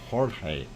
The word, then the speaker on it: Jorge: on sale george or if you're i'm speaking spanish say ho uh jorge i i do believe is the right pronunciation anyway what we see